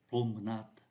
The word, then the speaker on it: promenade: Ví dụ như là promenade, chúng ta thấy ký tự ơ này không phát âm này, promenade.